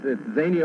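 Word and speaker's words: Xenia: It's Zania, Ohio, spelled with an X.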